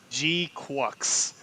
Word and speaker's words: GQuuuuX: So I know this got it's pronounced G-QuuuuuX. G-QuuuuuX? Oh wow. G-QuuuuuuX. Okay, G-QuuuuuX. Like if you're saying crux but trying to sound cutesy.